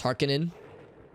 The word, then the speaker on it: Harkonnen: So it's Harkonnen. Harkonnen. Interesting. I take the former pronunciation.